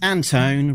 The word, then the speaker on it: Antone: We will be talking to none other than Anton rhymes with phone.